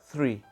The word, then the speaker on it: three: misalnya dari di pengucapan angka itu dibaca three jadi sedikit digigit lidahnya ujungnya three Kemudian untuk angka Del